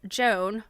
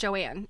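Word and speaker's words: Jon: So, decades before the term upycling was coined, Joan Oh, I'm sorry. It's pronounced Joanne, even though she spells it J O N.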